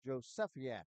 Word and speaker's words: Jozefiak: And Coach Burns before the game told me that's pronounced Josefiak.